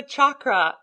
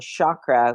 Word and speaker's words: chakra: They do the SH sound, chakra, when it's a CH, chakra.